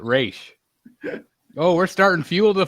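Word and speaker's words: Ra's: me talia's Dad yeah it says Dennis O'Neill created Roz and he pronounces it race oh we're starting fuel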